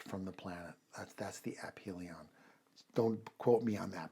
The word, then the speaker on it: aphelion: just use it uh she said actually it's pronounced apilion um I think it's it's an astronomical turn